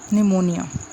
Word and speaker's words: निमोनिया: निमोनिया जैसे बोलते हैं, पी साइलेंट होता है इसमें।